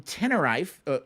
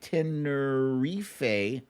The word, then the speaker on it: Tenerife: Wendy from Tenerife. Tenerife. Oh, excuse me. She spelled it out phonetically.